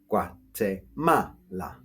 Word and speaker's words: Guatemala: We stress that on the second a, Guatemala.